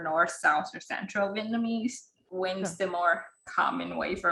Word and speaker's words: Nguyen: And like I always just like try to correct them, be like it's Nguyen, like try to pronounce the Y more so they understand.